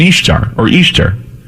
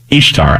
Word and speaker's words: Ishtar: And I did a search on the internet for burning churches in Ishtar, Ishtar, I-S-H-T-A-R, pronounced Easter, or like Easter, okay?